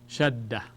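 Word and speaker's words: شدّة: Shadda, and that's Ta. Shadda. If we were to transliterate it, it would look like this. Shad, and then Da. Shadda.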